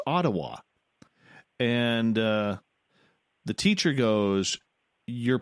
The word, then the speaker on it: Ottawa: And I said, "It's Ottawa." And the teacher goes, "You're pronouncing it wrong."